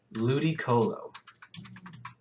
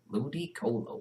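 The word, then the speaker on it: Ludicolo: Ludy Colo. Nope. Ah, how about Ludy Colo? I don't know how to spell that. L U D I C O L O. Ludy Colo.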